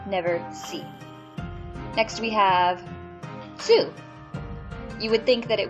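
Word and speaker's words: つ: Next we have tsu. You would think that it would be pronounced tu, because it is a T and a U, but it is actually pronounced tsu.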